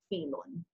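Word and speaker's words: فيلٌ: yeah yeah and lamb you've got Casper down here again it reinforces the yah as a vowel and then double Damas how are you gonna pronounce that the yelling vielen vielen vielen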